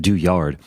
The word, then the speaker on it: Douillard: I'm going to go with the the Euro pronunciation of doyard um anyways it's it's a great book John